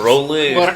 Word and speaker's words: Rowley: Yeah, and you said my name wrong about 1,500 Mark times. Rowley. Rowley, but that's fine.